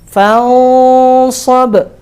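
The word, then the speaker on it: فانصب: Jadinya nyampur antara pengucapan nun dan shad. Separuh di sini, separuh di sini, gitu. Fansab, dan harus ada gunnah, ya.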